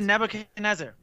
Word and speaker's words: Nebuchadnezzar: oh the answer is link it was a Nebuchadnezzar yeah that's how you say it there it